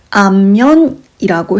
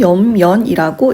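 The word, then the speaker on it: 厭然: 그래서 어떤 분들은 이 대학에서 요 구절을 암연이라고 해서 암자로 부르기도 하십니다. 그치만 저는 일단 이 글자 자체가 염이라는 글자로 가장 많이 불리기 때문에 여기서 염연이라고 읽도록 하겠습니다.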